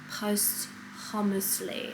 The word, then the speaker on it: posthumous: So interesting to see how someone's work finished or completed posthumously.